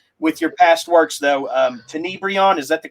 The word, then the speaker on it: Tenebrion: Tenebrion, is that the correct pronunciation?